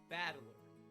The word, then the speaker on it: Battler: fight and person and it's pronounced badly perfect pronunciation thank you battler for because it's the character's fight in person